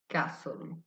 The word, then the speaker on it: castle: similarly the word castle castle the t sound is silent.